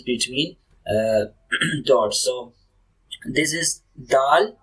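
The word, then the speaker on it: د: So this is dal. So if you cannot pronounce, so you can spell the letter. Okay, DAAL, dal.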